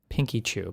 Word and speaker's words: Pinkchyu: It is Pinkchyu.